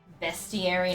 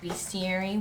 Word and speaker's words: bestiary: it's a great game see bestiary not beastiary well I just read how